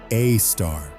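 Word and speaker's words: Sagittarius A*: At the center of the constellation Sagittarius, astronomers have discovered an object called Sagittarius I pronounced a star.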